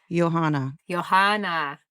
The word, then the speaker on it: Johanna: Because she's saying you pronounced it right. From Sweden. Johanna.